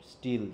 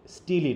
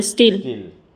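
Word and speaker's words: Steele: দা club কে লিখেছে স্টিল তাইতো স্টিল বানানটা কিড এসটি ডবলই এলই স্টিলি নাকি না স্যার স্টিল স্টিল অনেকে স্টিলি ফিলি বলে উচ্চারণ করতো তো এজন্য বললাম এটা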